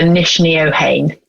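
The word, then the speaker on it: Neachneohain: short for the name nickname is short for niche neohane good i wanted you to say that and pronounce it because i tried to pronounce it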